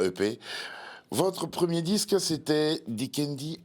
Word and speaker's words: Dikendi: Ça s'écrit comme ça, mais c'est de Kende à Paradis. Dikendi à Paradis. Voilà, c'est en D'accord. langue bafia du Cameroun.